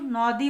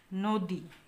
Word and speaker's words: নদী: আমরা কি বলেছি অতি আমরা কিন্তু নদী বলি না আমরা বলি নদী তাহলে ন এর সাথে যে অটা ছিল সেই অ এর উচ্চারণটা অনেকটা ও এর মত হয়েছে নদী এখানে কিন্তু উচ্চারণটা আমি